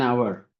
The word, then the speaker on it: hour: an hour. H is there but H is not sounding. O is hour.